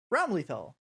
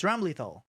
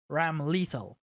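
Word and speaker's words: Ramlethal: enjoyer right you know that dram lethal is pronounced rumbly though right just listen to this besides the really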